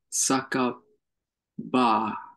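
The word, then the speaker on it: 酒場: Saka ba. Hi. So you probably have seen the saka kanji before pronounced as sake, which is wine or alcoholic drink or whatever, Japanese wine.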